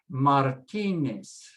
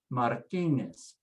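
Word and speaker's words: Martínez: put the stress remember the z is always pronounced s never z sound in spanish so you say hernandez hernandez martinez martinez sanchez and there's your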